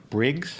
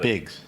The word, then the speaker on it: Briggs: is right you got it and Miles Lawrence Briggs ah there you go yeah you got not bigs not bigs boy I'm really prepared um from